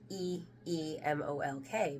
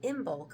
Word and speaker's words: Imbolc: It's Emolk, because it's how you pronounce Emolk. And if you were calling it Imbolc up until now, that's okay. But now you know the proper Gaelic pronunciation is Emolk.